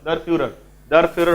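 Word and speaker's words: der Führer: कराइतला मन अच्छी तो दर फ्यूरर होची नाजीज माने तांको शासक को लीडर को जो नारे डाकंती उच्चारणटा भले सुनिबो दर फ्यूरर ठीक अछि जर्मन भाषा रे कुआ हुए ठीक अछि बुझियला तले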